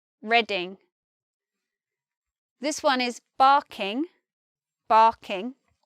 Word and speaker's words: Reading: not reading as in reading a book this one is just reading reading this one is barking